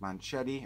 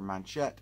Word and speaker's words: Manchette: Based on a classic pulp novel by Jean-Patrick Manchetti, or Manchette, and Jean-Pierre Bastide. Is it Jean or John? John, J-E, it's spelled like Jean, but John, I think, Pierre Bastide.